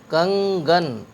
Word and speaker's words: کنگن: تلفظ صحیح نہیں ہوگا، تو تین حرفوں کو ملا کر کے پڑھتے ہیں تو تلفظ اس کا صحیح ہو جاتا ہے۔ کاف نون گاف، کاف نون گاف زبر کنگ، گاف نون زبر گن، کنگن۔ گاف نون گاف زبر